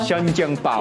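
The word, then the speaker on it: 生煎包: Started rain downpouring again, but we're at the next spot, and we're gonna eat something which is called shajiangbao. Close. 生煎包. Shajiangbao.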